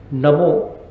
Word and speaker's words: नमो: नमो ना का उच्चारण मत करिएगा, ना है नमो। नमो में न, अ, म, ओ 4 शब्द हैं, और आप आश्चर्य करेंगे कि 2 आकाश, 1 वायु और 1 पृथ्वी।